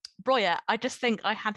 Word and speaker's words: Broja: I actually feel quite bad saying this, but it's Broja, or Broja, or however you would like to pronounce it, but I will be using the Albanian pronunciation. Broja, I just think I